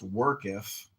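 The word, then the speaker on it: worketh: So workketh is pronounced workketh. That's not a common one. It's like earth.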